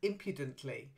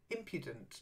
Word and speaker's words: impudent: tough on impudence and impudently so the stress is on that first syllable in impudent try it impudent yes